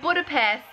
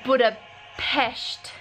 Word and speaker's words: Budapest: we made it - I've been mistakenly saying it wrong the entire time not Budapest its Budapest right what a pest like look